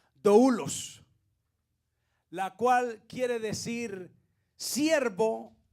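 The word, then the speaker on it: δοῦλος: Y es la palabra, esa es una palabra griega que se pronuncia doulos, la cual quiere decir siervo o esclavo, una de las dos.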